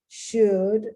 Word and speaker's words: should: Could, should, no L.